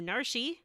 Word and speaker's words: Narshe: You can head on over to Narshi, or Narsh, depending on Narshe.